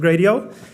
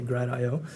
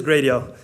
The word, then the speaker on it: Gradio: A little intro about me is I am one of the 4 co-founders of Gradio. It's pronounced Gradio, by the way. I know some people say Gradio.